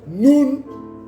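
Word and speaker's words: נון: Mais qui est dite, qui se prononce Nun en hébreu.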